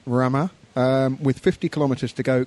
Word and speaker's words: Ramaz: Local pronunciation of Ramaz.